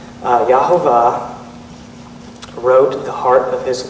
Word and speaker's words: Yahuwah: to me saying Yahuwah, but when I read it, that's what it looks like it's pronounced like, and even though that feels foreign to me, I know it probably feels foreign to you guys. That's how I've been saying it, because that's how it's spelled. And also, Jewish people know how to read Hebrew, and that's how they pronounce it too.